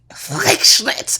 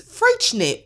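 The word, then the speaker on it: Freixenet: Anyway, I thought it sounded like not how it sounds, and so the X apparently is a ch sound, and it's Freischnit. Because you know me, I'm a Googler. Freischnit.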